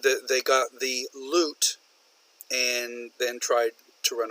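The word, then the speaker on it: lute: have a homonym here he didn't say loot l oot like you would find in a pirate's chest but the loot l ute which loot is actually a musical instrument from medieval times so I sent him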